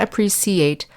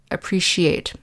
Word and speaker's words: appreciate: for all their hard work notice that the pronunciation of the c and appreciate makes the sh sound so not appreciate but appreciate just like the ci and special next we